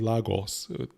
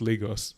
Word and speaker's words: Lagos: scene in Lagos what they say Lagos Americans pronounce Nigeria as Lagos it's Lagos but anyway just look at that I mean